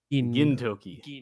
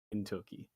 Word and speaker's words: Gintoki: Also the other thing, it's not gin, it's a gin. Gintoki. I promise to remember that with all of my British ability to remember how foreign names are pronounced. Yeah. Yeah, Gintoki.